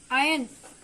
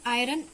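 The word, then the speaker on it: iron: एक होता आयन. इट्स नॉट आयरन. इट्स आयन. आर इसमें साइलेंट रहेगा. क्लियर?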